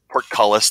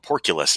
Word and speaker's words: portcullis: He would call it porculus, and it just stuck in my brain. You know what? For the longest time, I couldn't even pronounce it because of that.